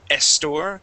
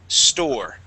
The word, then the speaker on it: store: Okay, here you had said estor, electronic estor. Let's remove that E at the beginning and just pronounce that S. We're going to say store. Okay, one more time. Store.